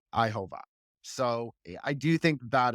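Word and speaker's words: Yhwach: So it's Yuhavaha is how they pronounce it in the dub. But obviously it's Ihova.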